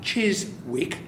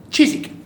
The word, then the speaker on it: Chiswick: Not Chiswick. Chiswick. The W is silent, like a Werman.